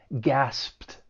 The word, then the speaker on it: gasped: And because that final p sound is voiceless, the ed d is going to take on a t- sound. So, we have the P sound followed by the T- sound, which can be a little difficult. It's going to sound like T- gasped.